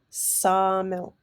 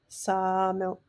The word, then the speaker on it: sawmill: It's called a fricative. So like sawmill, sawmill, and that's the word for gopher.